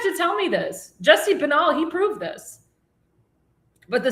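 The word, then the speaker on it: Binnall: In a Senate hearing, Trump campaign attorney Jesse Benali, or Benal, excuse me, I mispronounced his name, and I've met him before actually, presented evidence of widespread voter fraud in the state of Nevada.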